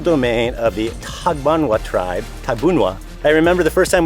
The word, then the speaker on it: Tagbanwa: This entire island is ancestral domain of the Tagbanwa tribe, Tabunwa. I remember the first time we came here, I read it off of a sheet and it looked like Tagbanua, so that's how I pronounced it.